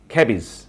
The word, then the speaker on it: cabbage: Base, ক্যাবেজ, ক্যাবেজ, নট ক্যাবেজ, it should be cabbage.